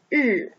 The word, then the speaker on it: 日: Sun is pronounced as 日.